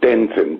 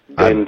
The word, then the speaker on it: Denton: It's Denton, D for David, Denton.